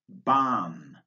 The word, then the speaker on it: bomb: Take, for example, the consonant B, which is silent in these words. Bomb, bomber, comb, crumb, debt, doubt, dumb, lamb, plumber, subtle, thumb.